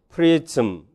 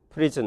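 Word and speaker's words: prism: 그리고 그것들은요 추가적인 어시밀레이션을 겪지 않기 때문에 겪는다면 매든 모든 캐즌, 프리즌 이렇게 돼야 되는데 이거는 틀린 발음이 됩니다.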